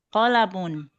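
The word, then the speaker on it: قلم: Ma hadza hadza qolamun. Qolamun ya. Pendek semua ya. Qolamun ya. Jadi enggak boleh qof-nya panjang, lam-nya panjang enggak boleh. Qolamun ya gitu ya. Pendek semua.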